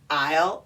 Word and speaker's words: isle: apostrophe LL this is a contraction and it's pronounced aisle as well what yeah I'll but it looks